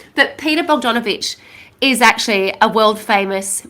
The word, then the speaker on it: Bogdanovich: Bdon Bdonovich. Um I need to say it lots of times so I say it correctly. But Peter Bogdanovich is actually a world famous movie director.